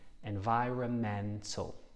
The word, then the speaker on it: environmental: is environmental damage and remember the silent n environmental so a long word but you can break it down environmental five syllables environmental thank you for